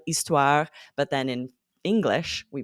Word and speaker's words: histoire: French, hôtel, histoire, but then in English, we pronounce that H.